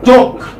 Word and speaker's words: talk: For instance, talk. L is silent.